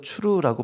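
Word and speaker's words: צור: 이 바위는 원문에서 추루라고 발음을 합니다.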